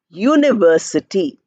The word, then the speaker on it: university: you cannot do anything suppose you have University it is written with you but it's pronounced with year year we never pronounced year now we are saying we are not saying University we are saying University y u university so that is how